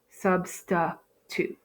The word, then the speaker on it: substitute: In my second syllable, I end with an I. So in a typical open syllable, this would be a long I sound, but here it's not. We have a schwa, substitute.